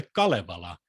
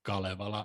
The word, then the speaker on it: Kalevala: His love of the Kalevala, above all the national epic poem of Finland, is well known. Funnily enough, Lewis mispronounced Kalevala as Kalevala, but Walter Hooper corrects him.